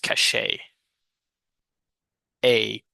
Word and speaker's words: cachet: resilience in Brazil okay how do you pronounce this word cashet cash cashet yeah okay this ET at the end of words normally are normally pronounced Cas a uh the state of